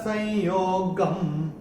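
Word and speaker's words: संयोगम्: और ग के ऊपर जो ये अनुस्वार आ रहा है चरण की समाप्ति पे आ रहा है, तो इसका उच्चारण केवल और केवल म होगा। तो ये मैंने कैसे किया था, न कर्म फल संयोगम, ये करके ऐसे करके मैंने चैंट किया था।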